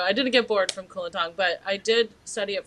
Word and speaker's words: Kulintang: Is that the pronunciation? Yeah, Kulintang.